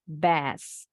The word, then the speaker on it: bass: Ikan kakap putih pengucapannya bass, bass, bass, bass, bass.